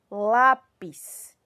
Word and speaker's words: lápis: um acento agudo tá a palavra lápis qual é a minha sílaba tônica lá lá pis então a minha sílaba